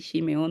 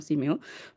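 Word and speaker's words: שמעון: palabra del sustantivo shimeon realmente debíamos decir shimeon No si meo por el la shi ahí la Shin la pero eh Esa es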